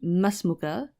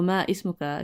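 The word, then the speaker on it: ما اسمك: Actually, the correct way of saying it would be masmuka. You would just connect it straight onto the next word, masmuka. And masmuka, or ma ismuka, if you want to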